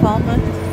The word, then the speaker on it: Falmouth: at officially landed and how's it pronounced oh month yeah fall month fall month Jamaica it's pretty cool